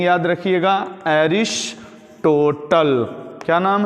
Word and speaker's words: Aristotle: यूज हो रहे हैं, तो इसको बोलते हैं, स्पेलिंग याद रखिएगा, एरिस्टोटल। क्या नाम है? एरिस्टोटल, ARISTOTLE, अरिस्टोटल या अरस्तु।